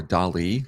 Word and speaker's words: DALL-E: I believe it is more DALL-E, like the painter.